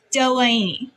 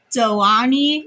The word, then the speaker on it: Delaney: So I decided to do it with this cuz it's Delaney but people will kind of go Delani or Dany or Dan or stuff like that.